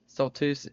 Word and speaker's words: Stoltzfus: Stoltus. That's how he pronounces that.